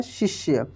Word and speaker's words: शिष्य: शिष्य। देखिए तालव्य श है, इसमें छोटी ई की मात्रा है, आधा मूर्धन्य श है और य है। शिष्य, इसको हम लोग तेजी में पढ़ेंगे आधे अक्षरों को।